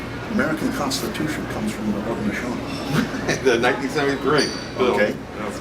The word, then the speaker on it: Haudenosaunee: How do you spell it? H-A-U-D-E-N-O-S-A-U-N-E-E.